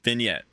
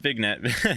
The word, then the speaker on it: vignette: before that and then vignette not Vette vignette I was mispronounced it last time uh that one that